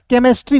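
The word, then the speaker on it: chemistry: केमिस्ट्री हो जाएगा। यानी कि होता है दोस्तों रसायन शास्त्र होता है। यानी कि दोस्त यहां पे सीएच का उच्चारण किसके रूप में हो रहा है? क के रूप में हो रहा है।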